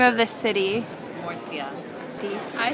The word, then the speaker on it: Murcia: Murcia.